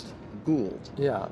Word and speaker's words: Gould: How do you pronounce Gould. it? Gould. Yeah. Not Gold. Or Gould. Gould. Or as my wife has mispronounced it here for 35 years, Grudo.